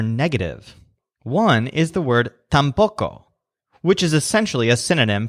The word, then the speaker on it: tampoco: one is the word tampoco which is essentially a synonym for null this word has the stress on poke because there are nails